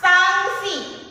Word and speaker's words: sanksi: Sansi. Sansi pelafalan sama, penyebutannya sama. Sanksi. sanksi. Namun ejaan dan maknanya berbeda.